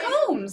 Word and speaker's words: Combs: Luke Combs. Okay. C-O-M-B-S, okay. Like a honeycomb. Not Combs like the catacombs.